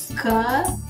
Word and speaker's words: campo: As letras M e N, quando vem depois da vogal e em final de sílaba, também nasalizam o som das vogais. Por exemplo, campo. Eu vou ler campo.